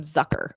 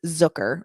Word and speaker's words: Zucker: want to call him Zucker, but it's Zucker, rhymes with hooker, which is, by the way, what he told us.